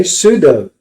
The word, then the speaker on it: sudo: So sudo, or as the British say, sudo, su dash.